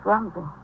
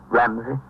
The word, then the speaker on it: Rumsey: Doris Rumsey. Ramsey? No, sir. With an O.